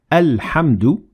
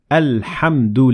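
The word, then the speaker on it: الحمد: the hemsat wassel but if you start at the word you will pronounce hamzet wassel like in this example alhamdulillah notice how we pronounce the hamzat wassel at the beginning of the word al-hamdu because we started there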